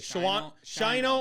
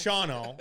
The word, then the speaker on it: Shawano: It's you like Shino or Shawano. It's Shawno. I've learned that.